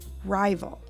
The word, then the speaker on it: rival: If we divide the word after the I and before the A, the first syllable says ri with a long vowel sound I, and the second syllable says vul to make the word rival.